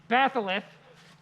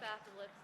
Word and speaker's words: batholith: Batholith. How do you spell that?